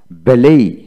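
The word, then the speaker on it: ballet: তারপরে বেলেই বেলেই, টি উচ্চারিত হবে না।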